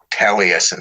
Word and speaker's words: Taliesin: I think at one point she mentions, he was Downard and Anne were part of this Taliesin circle of people.